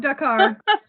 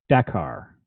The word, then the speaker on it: Dakar: Dakar. It almost sounds like, and look at me, I want French to say this, but it sounds like d'accord, which means okay.